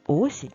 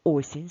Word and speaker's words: осінь: А скільки в слові осінь складів давай розіб'ємо це слово на склади сень скільки складів два абсолютно правильно наголос у слові осінь падає на перший склад тож Давай ще раз